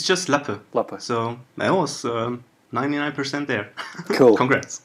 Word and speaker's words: Lappe: how would you find that how would you pronounce it it's just lapper so i was 99 there cool congrats cool